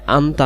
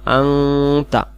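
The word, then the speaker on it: أَنْتَ: রব্বি আল্লাহুম্মা আংতা রব্বি, এটা আন্তা না, আংতা আংতা, সহি উচ্চারণ আংতা।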